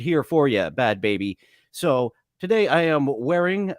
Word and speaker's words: Bhad Bhabie: for our host today bad baby I keep wanting to say bad Barbie for some reason since her name is